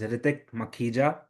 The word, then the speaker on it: Ritik Makhija: But right, so well, my name, the way he said it, the way you properly pronounce my name is Ritik Makhija with K, right?